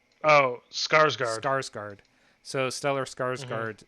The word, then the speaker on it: Skarsgård: Skagard. Oh, Skarsgård.